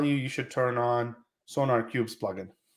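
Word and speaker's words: SonarQube: going to tell you you should turn on sonar cube's plug-in how do you spell that s-o-n-a-r-q-u-b uh-huh sorry sonar cube yeah and the reason why is that like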